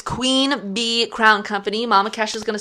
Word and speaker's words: Queen Bee Crown Company: Every time I say it, I sound like I'm saying Queen Bean. It's Queen Bee Crown Company.